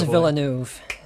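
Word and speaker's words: Villeneuve: yeah yeah the d i i'm never gonna pronounce this guy's name right dennis uh denise villanuev there we go he's got it yeah andrew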